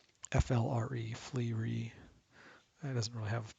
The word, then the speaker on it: FLRE: There's a healing spell, FLRE, Flee. It doesn't really have pronunciation.